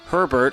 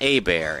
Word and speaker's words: Hebert: didn't grow up in Cajun Country you probably mispronounced his last name as Herbert or Hebert that's fine you're not the only one his last name is actually pronounced a bear and his career prior to the Drew Brees